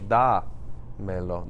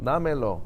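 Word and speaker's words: dámelo: Now I do, because now the natural stress would have been on the E, but I still want to say damelo. Damelo.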